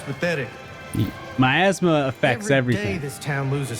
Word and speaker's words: miasma: yeah yeah so it's it's clearly pronounced miasma like not your asthma but my asthma uh and is are